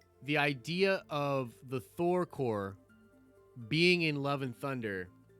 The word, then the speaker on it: corps: going to introduce the thor core not corpse everybody it's not pronounced corpse god you guys are such